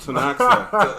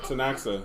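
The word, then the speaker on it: Ktunaxa: is it at right here oh you Decay is silent yeah so it's t tanaa okay tanaa tanaa thank you the tanaa nation which includes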